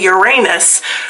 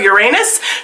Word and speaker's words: Uranus: Um, back I didn't realize this, but it was actually an official pronunciation change back in the mid 1980s. There was a space probe that was going to be flying around and newscasters were going to have to say Uranus a lot on television. And so, they decided to officially change the pronunciation of Uranus to Uranus.